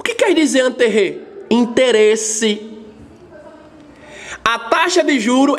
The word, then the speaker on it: intérêt: Intérêt. Vou repetir, a pronúncia do francês.